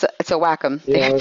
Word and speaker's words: Wacom: to look at the computer screen, not the Wacom. Well, it's a Wacom. Yeah, they pronounce it Wacom, but the Cintiq is supposed